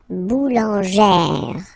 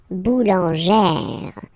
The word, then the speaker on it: boulangère: Okay, so boulanger, boulanger, and then feminine form, boulangère, boulangère. Same thing, don't insist too much on the final E, boulangère.